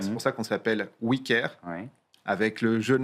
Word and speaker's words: OuiCare: D'ailleurs, c'est pour ça qu'on s'appelle wicker.